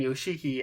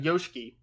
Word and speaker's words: Yoshiki: fell flat that way next we had Alicia Yoshiki which is how they pronounce her last name I am so bad at pronouncing names apparently because I've been saying you cheeky and apparently that's wrong so it's Arisa Yoshiki retaining the wonder of